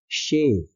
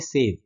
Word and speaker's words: shave: SHAVE इसको हम pronounce करते हैं शेव, श के साथ ए की मात्रा, शेव। और SAVE इसको हम बोलते हैं सेव। बहुत से लोग SHAVE को बोलते हैं सेव, हमें सेव करनी है ना।